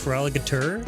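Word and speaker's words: Feraligatr: It's pronounced feraligator because of the limitations of the game boy color or game boy when the Pokemon gold and silver released. So not feral for alligator.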